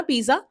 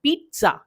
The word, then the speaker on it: pizza: आप प्रोनाउंस करते हो ना पिज्जा, बट ये गलत है. हम इसको प्रोनाउंस करते हैं पिज्जा. देखो, पिज्जा है ना, इटालियन वर्ड से आया है. यहाँ पे हम ZZ साउंड को जा नहीं पढ़ते.